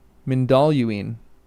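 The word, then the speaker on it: Mindolluin: Menaluine. Menaluine. That's cool. That's a cool way to say it. Moluine accent on the second. Okay. Maluine.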